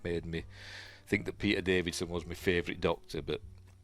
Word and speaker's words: Davison: Anyway, Fifth Doctor, Peter Davison. I've always pronounced it Davidson. I've always put a D in there for some reason, but it's not, is it? 81 to 84.